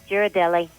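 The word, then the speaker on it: Ghirardelli: Girardelli.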